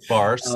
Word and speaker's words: Baars: And do you pronounce the S on the end of Baars? Yeah, what, yeah, sure. Okay. Baars.